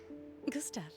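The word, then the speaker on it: Gustave: Gustav. I love you all. I was correct. There's no accent. I shouldn't be pronouncing the E.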